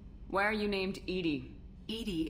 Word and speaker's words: EDI: Edie is the phonetic pronunciation of E-D-I. That is an acronym for Enhanced Defense Intelligence.